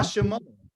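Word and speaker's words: שמו: Ma Shemo. What? How do you say name? Sha. Mo. His name. Shemo. Sha. oh, Mo. Mo, yeah, Shemo. Yes, Shemo. Shemo means his name or name of his.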